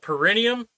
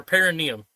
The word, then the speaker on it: perineum: Is it pronounced perineum or perineum? Yes. Both. Both.